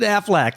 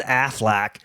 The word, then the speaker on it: Affleck: that's not his name he pronounces aflac like aflac yeah okay anyway he's